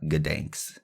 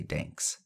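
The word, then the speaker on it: Gdańsk: how you say it it's g d NSK it's not ganks is it I'm I'm GNA say danks dank dank not danks dank all right it's whereabout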